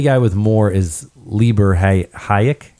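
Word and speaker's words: Hájek: The only guy with more is Lieber Hayek, right?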